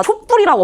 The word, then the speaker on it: 촛불: 근데 촛불은 그런 환경이 아니야. 이거는 원래 경화가 일어날 만한 환경이 아닌데 사람들이 다 촛불이라고 발음을 하더라는 거야. 그럼 일차적으로 일단 받아들여야 돼.